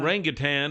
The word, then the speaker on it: orangutan: But an orangutan is orangutan. It's spelled like orangutan.